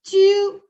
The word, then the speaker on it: tu: You is pronounced as tu.